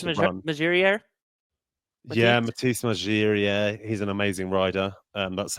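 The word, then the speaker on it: Margirier: Yeah, Matisse Magirier.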